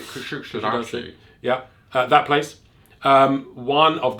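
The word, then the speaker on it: Kuşadası: You've got to say it like Sean Connery. Kusadasi.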